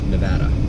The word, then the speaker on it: Nevada: there Nevada Southern Nevada I was told it's pronounced like Nebraska Nevada it's just a matter of trying to remember